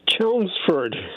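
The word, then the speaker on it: Chelmsford: chel chelou for massach how do you say that John it's chelsford oh chelsford okay yeah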